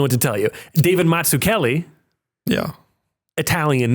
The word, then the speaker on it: Mazzucchelli: Pizza. Mazzucchelli. It's the same thing. The double Z's, the double C's.